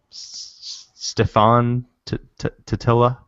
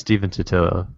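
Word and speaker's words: Stephen Totilo: How do you pronounce his name? Stefan Totilla? What is it? Tartaros. Stefan Totilla. Tartaros. It's Steven Totillo.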